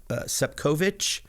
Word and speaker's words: Sepkovic: I go to Europe, people immediately are like, oh, Sepkovic, because a lot of the people pronounce it Sepkovic, even with the little slash above the C.